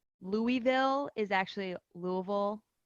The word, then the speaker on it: Louisville: So she taught me how to say and pronounce all the things. Like Louisville is actually Louisville. Louisville, And yeah.